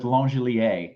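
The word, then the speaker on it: Langeliers: We are sticking with Langelier, the French version, regardless of what it actually is.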